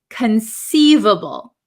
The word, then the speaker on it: conceivable: So going to the next set of words, the first word is conceivable. Conceivable. So this C is not a hard C. It is a soft C.